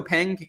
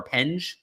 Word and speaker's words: Penge: This Marco Pang, he won or Penge, sorry, that's how you say his name. I heard it on the broadcast today.